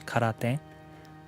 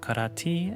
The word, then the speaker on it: karate: I think that's where the pronunciation comes from in English, because technically in standard Japanese it's karate, but I hear that in Okinawa it's karate.